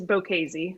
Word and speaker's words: Bocchese: So first of all, let's make sure we got your last name, the pronunciation correct. Was I close? Yeah, it's Bocchese.